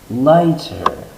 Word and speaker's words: light: We have this word light, and if we add an ER, it makes the word lighter. In English, IGHT has a long I sound, light. The GH is silent. Lighter.